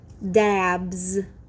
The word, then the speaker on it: dabs: Dabs. I hear the Z sound in the word dabs.